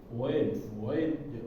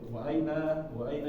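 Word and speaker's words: أَيْنَ: Biasanya kalau orang Arab itu ketika membacanya disingkat-singkat ya, atau menjadi o. Wain, wa'aina jadi wain, fi'aina jadi fain, fi'ain.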